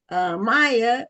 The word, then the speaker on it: Mya: Now you do pronounce it Maya and not Mia, correct? Yes, ma'am. It's Maya.